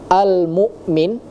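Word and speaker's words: المؤمن: Nah, kemudian tadi terdengar di kalimat almukmin ya, almukmin yang harusnya menggunakan huruf hamzah tadi terdengar ada huruf ain ya.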